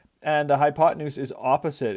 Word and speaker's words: hypotenuse: Um, I put a picture of a hippo here because, you know, it kind of looks like hippo hypotenuse or hypotenuse, but it is pronounced hypotenuse.